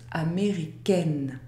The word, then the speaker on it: américaine: La combinaison AIN n'est pas une voyelle nasale. Le mot se prononce américaine.